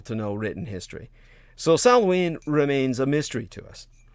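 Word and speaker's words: Samhain: a pagan holiday called salween uh which is also pronounced uh sawween uh as in sow sow rhyming with cow which was celebrated on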